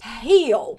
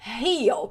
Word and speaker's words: heal: O curar da frase anterior, nós pronunciamos heal, heal. O som sai aqui da garganta e é o mesmo som de house, house, Heel. É assim que a gente pronuncia.